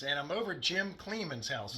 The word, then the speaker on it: Kleeman: Hey everybody, Al Puglisi Trains, and I'm over at Jim Kleeman's house. Is that pronounced Kleeman, right? Yes, you got it.